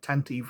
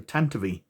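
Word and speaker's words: Tantive IV: the tantive tentavi iv i've got to remember how to pronounce that right since i learned that tent eve wasn't its name the tentavi for blockade runner with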